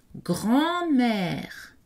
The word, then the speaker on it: grand-mère: Grand-mère, le N n'est pas prononcé, la voyelle est nasale.